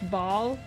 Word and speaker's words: Baal: going to have fun so it's pronounced ball because ball is life okay Y no reading